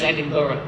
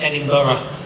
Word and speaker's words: Edinburgh: We don't say it like that, you prat. I'm going to help you. Sit down. It's Edinburgh, by the way. What? It's Edinburgh. Yeah, Edinburgh.